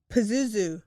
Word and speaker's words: Pazuzu: you how do you say that name again Pazuzu Pazuzu Pazuzu um and he was telling people